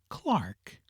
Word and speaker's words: clerk: To this class belong clerk, cucumber, and gold, which are often pronounced as spelled, though it were better and more in conformity with polite usage to say Clark.